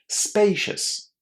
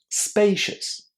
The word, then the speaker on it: spacious: And remember about that a in the first syllable. It's pronounced as a spay.